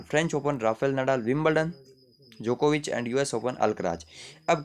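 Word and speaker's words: Djokovic: हमारे एनडीए के कैडेट्स, यानी कि नोवाक जोकोविच। नोवाक जोकोविच, जोकोविच में डी साइलेंट है, बट आपको याद रखना नोवाक जोकोविच।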